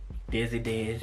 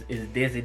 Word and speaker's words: Dezzy Dez: know, well, my nickname, if you can't pronounce it, it's Dezzy Dez, you know. Some people say Dezzy, I'll be like, that's close enough, but nah, it's Dezzy Dez.